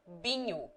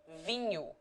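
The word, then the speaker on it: vinho: ministry lishu dialectical six in certain parts of portugal one hears many pronunciations that are purely dialectical in menu for example the people generally say binyu instead of vinu and instead of soldado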